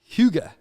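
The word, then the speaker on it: hygge: which is really spelled hy gge, and it's pronounced huga.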